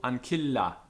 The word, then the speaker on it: ancilla: Double consonants are both pronounced, one falling into each syllable. Ancilla, ancilla.